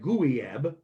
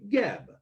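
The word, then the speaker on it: Guieb: Anyway, Geb is spelled G-U-I-E-B. So you wouldn't be like Gooey-eb. It would be Geb.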